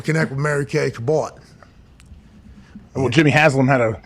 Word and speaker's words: Cabot: No, Mary Kay Cabot's a profesh.